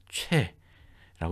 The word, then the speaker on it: 최: 올바른 발언법을 가르쳐 주죠 아니 아니 초이가 아니고 최라고 우리가 된다 최 그리고 최헌이다 이렇게 꼬박꼬박